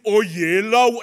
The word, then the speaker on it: Oyelowo: So I stand before you today as David Oyetokunbo. Oyelowo! As opposed to a David Oyelowo. My dad gets so frustrated. What is this? It's Oyelowo.